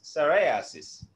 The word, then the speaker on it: psoriasis: Yeah P is silent there. P എസ് എസ് ഓ ആർ ഓ ആർ ഐ എ എസ് എസ് ഐ എസ് I repeat P കൊണ്ട് തുടങ്ങണം. P silent ആണ്.